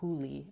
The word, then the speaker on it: Julie: give her a plug her name is uh hulie but that's spelled like Julie Julie Franco and feel